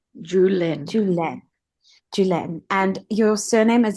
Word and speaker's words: Juhléne: It's pronounced Juhlene. Juhlene. Juhléne.